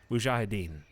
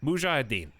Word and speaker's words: mujahideen: the mu how do you say this chat mujahideen there you go mujahideen for the upcoming struggles this could be the